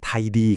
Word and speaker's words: ThaID: ก็ คือ ไทย ครับ หรือ ที่ อ่าน ว่า ไIDดี ครับ นี่ คือ ระบบ